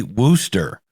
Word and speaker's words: Wooster: a half from me spelled w-o-ooster a lot of people pronounce Worcester it should be Wooster so English in itself